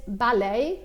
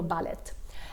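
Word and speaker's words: ballet: باللغه البريطانيه بينطقوها مع صوت التي بالاخر، باستثناء كلمه بالي. اوكي، بالي ما بيقولوا باليت.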